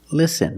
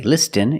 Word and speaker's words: listen: see s t n with this spelling pattern you can see the t is silent listen we don't say listen it's listen and fasten example fasten your